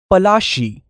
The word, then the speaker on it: Palashi: plasie got its name lassie is an anglicized pronunciation of palashi and the place derived